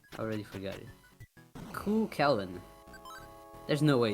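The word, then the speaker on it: Cú Chulainn: Ku Kellen is how you pronounce Q. Chu Lane.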